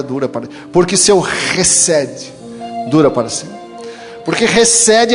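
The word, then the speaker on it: חסד: A palavra misericórdia, no original, no hebraico, é recede. Se escreve com CH no hebraico, mas se pronuncia como H, como se o H fosse pronunciado.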